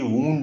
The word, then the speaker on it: wound: SOUND, साउंड, और WOUND, वूंड भी होता है। जैसे वाइंड अप करना माने किसी को समेटना, उसका थर्ड फॉर्म वाउंड, लेकिन वूंड वही सेम स्पेलिंग होती है, उसका मतलब जख्म, चोट।